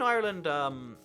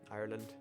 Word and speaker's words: Ireland: I was in Ireland, Ireland. There's a funny difference between how like most people say Ireland and like how Irish people say it. There's like a real hard emphasis on the R there.